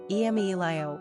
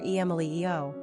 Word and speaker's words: Emilio: Quick facts on Emilio Gender, boy Origin, Italian Number of syllables, three Ranking popularity, 298 Pronunciation, emelio or emelio Simple meaning, rival Characteristics of Emilio Independent, philanthropy,